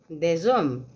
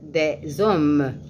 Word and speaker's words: des hommes: ici vous dites des des hommes vous ne prononce prononcez pas le S à la fin mais vous prononcez le S après des des des hommes des femmes s à